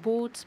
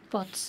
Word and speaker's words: Botz: It's not Bots, but Bots indeed.